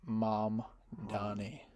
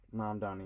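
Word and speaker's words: Mamdani: How do you spell that? Zor Han. It's right here. Zor Zoron. Mom Donnie. Mam Donnie.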